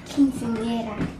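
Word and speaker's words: quinceañera: I won't be doing what they ate after school because we have a quinceanera. Right? I said it right? Kinda, yeah. You say it. Quinceanera.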